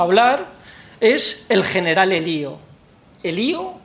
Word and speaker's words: Elío: Elío con acento en la I.